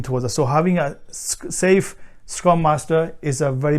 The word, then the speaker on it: SAFe: scaled agile framework so it's spelled like saf with the small e safe so safe scrum master